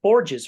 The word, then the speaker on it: Borges: It's at Borges, or is that right, Chloe? That's how I pronounce it.